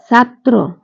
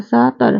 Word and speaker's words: ছাত্র: উচ্চারণ দিতে হবে অর্থাৎ সেই বর্ণটির উচ্চারণ দুইবার উচ্চারিত হবে যেমন ছাত্র সাকে ছা তরে ফালা এর সঠিক উচ্চারণ